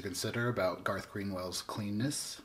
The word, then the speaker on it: Cleanness: about Garth green whales cleanness aka rhymes with penis that's right Garth green